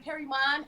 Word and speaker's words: Perrymon: Perymon. I'm Perrymon. I'm a mon, not a man.